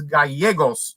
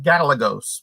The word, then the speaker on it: Gallegos: Another chat superstar, our buddy from New Mexico, James Gallegos, not Gallegos, by the way. Oh, I've been saying it wrong.